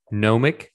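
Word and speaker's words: gnomic: difficult word for me to pronounce nomic like g-n-o-m-i-c uh which is a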